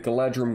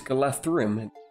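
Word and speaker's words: Galadhrim: With the army barracks, the units you'll get are the Sentinels of Cairn Amroth, the Galadrim Guards, and the Galadrim Swordsmen. And sorry, it's Galathrim. DH is pronounced like a TH.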